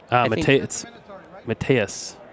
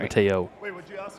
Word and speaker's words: Mateus: Mateus. Mateus. Not Mateo.